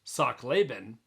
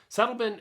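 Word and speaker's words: Sachtleben: Frank lent he was German his name originally pronounced Sak laben was Americanized to slein slein had been a cycling Globe Trotter as well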